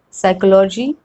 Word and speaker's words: psychology: P is not pronounced in the combination PS and PN, and there are ample examples about it. Psychiatrist, psychology, psychologist, psychotherapy, psychotic, then pseudonym, pneumonia, pneumatic.